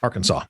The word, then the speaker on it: Arkansas: Arkansas, or Arkansas, for those of us that say it right.